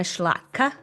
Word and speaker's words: Szlachta: Elena Schlachta, and that last name is spelled Szlachta, and she focuses really on data literacy and measurement.